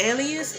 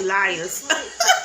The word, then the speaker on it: Elias: say it she's always so important oh it's pronounced Alias I was saying Elias it's pronounced alias all the time this kid